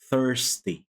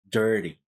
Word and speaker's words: thirsty: out of your mouth like third thirsty thirsty so it should not sound like dirty okay so so if